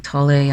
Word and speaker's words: Tolle: i bring up eckhart tolle eckhart tolle and some people call him tolly i tend to call him toll and silent e i don't know but